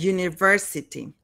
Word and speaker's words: university: University starts with a semi-vowel, which is Y, university. Not in the writing, but in the speaking. So that's why the first sound of university sounds like yeah, you, university.